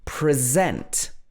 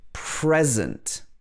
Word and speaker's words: present: another example of this present versus present the first one is a verb so here the stress is on the zent the second syllable and this is because